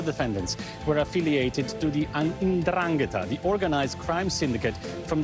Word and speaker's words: 'Ndrangheta: Now, all the defendants were affiliated to the 'Ndrangheta, the organized crime syndicate from the southern region of Calabria. This is how you pronounced it, actually.